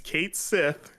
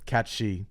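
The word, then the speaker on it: Cait Sith: came out and said that his name is Kate Sith which we all said that it was listen yeah that's that's not how hamaguchi pronounced it in the rapid fire though they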